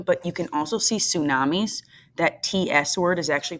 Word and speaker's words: tsunami: going to happen but you can also see tsunamis that TS word is actually pronounced tsunami and because of earthquakes occurring underwater